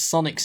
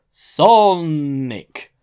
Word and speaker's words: Sonic: the host constantly pronounces Sonic's name completely wrong instead of saying Sonic he extends the sound of the letter N in the name for too long so what comes across is song Nik which translated directly into